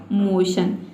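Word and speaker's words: motion: तो देखिए MO का हो जाएगा मो और TION को हम पढ़ते हैं शन, तो इस तरह से इसका प्रोनाउंसिएशन हो जाएगा मोशन।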